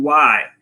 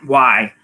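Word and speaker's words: wai: really wave at each other okay so you why when you see them and the higher the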